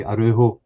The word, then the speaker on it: Araujo: But yeah, Tierney, Scales, Trusty, and the new guy, Araujo, that's how you pronounce his name.